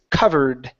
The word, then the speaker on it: covered: Take out the E. We don't want to pronounce this E right here. It's only covered.